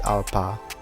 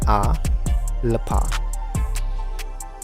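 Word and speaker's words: अल्प: For example, the word alpa, which means small in Hindi, is transliterated as A plus lapa, but is pronounced as alpa rather than A lapa.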